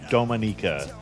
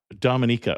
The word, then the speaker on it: Dominica: Today Amateur Traveler talks about waterfalls and snorkeling, whales and turtles, hot springs and canyoning as we go to Dominica.